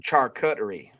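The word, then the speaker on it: charcuterie: But it's pronounced char cutery.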